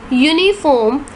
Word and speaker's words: uniform: giving us consonant sound the vowel U in University and uniform and the vowels EU in European sound like you why oh you that